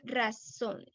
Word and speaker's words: razón: Ra, hay dos sílabas ahí, razón. ¿Cuál es la sílaba más fuerte? ¿Cuál es la que pueden escuchar más? Razón. ¿Razón? ¿Se dice razón o se dice razón? ¿Qué piensas, Andy? ¿Sería ra o sería son? Son, sería son.